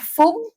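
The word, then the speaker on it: 分: menit juga ada kanjinya kanji ini bisa dua cara bacanya Ya bisa Fung bisa Pung ya Itu tergantung angkanya ya Jadi kalau Angkanya berapa itu dibaca Fung kalau Angkanya berapa dibacanya Fung eh Pung ya Pung ada marunya ya Pung ya Hai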